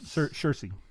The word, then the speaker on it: Saoirse: Saoirse.